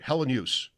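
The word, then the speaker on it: Helenius: Hellenius. Right. Kind of like no particular emphasis on any syllable, and I would say that it's 3 syllables.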